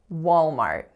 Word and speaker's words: Walmart: the United States so two syllables the first one is wall so you have the aw low back vowel going into a dark L and then the second syllable is Mart so that is a complex AR vowel are the strongest syllable is of course on the first Walmart Walmart next up we have